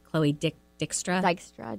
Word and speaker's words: Dykstra: not gonna say her name right Chloe dick Dijkstra Dykstra Dykstra who was dating TV personality Chris Hardwick and